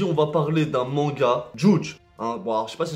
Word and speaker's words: Judge: va parler d'un manga djoudj un bar j'ai passé se prononce bien ça s'écrit j eus dge c'est une personne qui